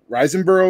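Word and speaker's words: Riseborough: fan of mandy and uh the actress andrea reisenboro is how you say her last name um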